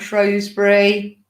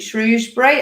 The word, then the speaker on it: Shrewsbury: just got coming up, Shrewsbury. Now, I've got told off because I say that wrong. Is it Shrewsbury? I always say Shrewsbury.